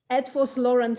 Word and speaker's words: Eötvös Loránd: PhD from, I will do my best to pronounce it correctly, Eötvös Loránd University.